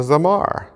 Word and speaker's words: zamar: is that weird instrument it is a zamar rhymes with guitar so worship is not